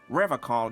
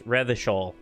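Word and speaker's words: Revachol: Yeah, well, Revocol used to be a flaming rhino once, a long time ago. That seems unlikely too, doesn't it? Why did he pronounce it like alcohol? It's not Revocol, it's Revishol.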